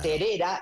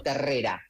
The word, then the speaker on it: Terrera: Por eso te decía de que lo nombraba como terera y no como terrera.